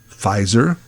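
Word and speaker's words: Pfizer: yeah I Googled that fizer is at the top of the Pharma Heap fiser PF i z e r the p is silent wow well that sounds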